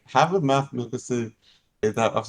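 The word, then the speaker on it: Mads Mikkelsen: Matt Mikkelsen.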